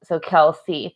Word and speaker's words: Kelce: So Kelce, thank you. That's what I thought. I just didn't want to pronounce it wrong.